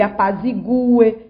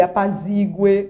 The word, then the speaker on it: apazigue: Que ele apazigue e não que ele apazigue, como nós escutamos.